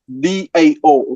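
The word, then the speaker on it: Dao: the same, the Tao, D-A-O, okay, small detail, the D in the pinyin transcription system is pronounced like a T, okay, but it's a D.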